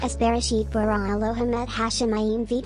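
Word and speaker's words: בראשית: In Hebrew, Genesis 1:1 is pronounced as Bereshit bara Elohim et Hashemayim v'et haaretz.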